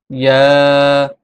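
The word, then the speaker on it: ياء: ইয়া হরফটি জিহ্বার মধ্যখান তার বরাবর উপরের তালুর সঙ্গে লাগিয়ে উচ্চারিত হয়। ইয়া, ইয়া, ইয়া, ইয়া, ইয়া।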